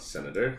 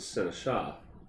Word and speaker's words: Seneschal: Not Senator. It's a Seneschal.